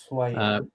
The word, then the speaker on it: Ushuaia: Ushuaia. Which yeah you're well you're you're Argentinian sir aren't you? You don't pronounce the H in Spanish it's silent. Well why write it then?